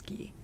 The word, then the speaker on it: Guy: I'm pretty sure he's Guy of Gizbborne, even though you're correct that the name originally comes from French and would pronounce Gee.